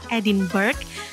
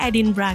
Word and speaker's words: Edinburgh: meskipun dari tulisannya itu mungkin kita berpikir cara pengucapannya adalah edinburg tapi sebenarnya cara pengucapannya adalah edinbra guys nah edinbra ini